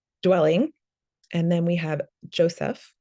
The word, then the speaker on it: Joseph: And then we have Joseph, which a closer pronunciation would be Yosef.